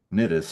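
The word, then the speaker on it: Cnidus: get as far as Nitus here I think the sea is silent I'm pronouncing it as though it's silent if I if it's silent am I really pronouncing it. It's silent. Nitus.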